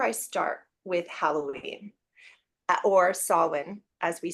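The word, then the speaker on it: Samhain: so that's where I start with Halloween or soln as we say in the British traditional kind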